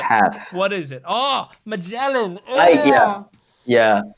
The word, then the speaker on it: Magellan: Oh, Magellan. Yeah. I gave up on the English pronunciation because it's so cringe. So I just remember it by Mazilan.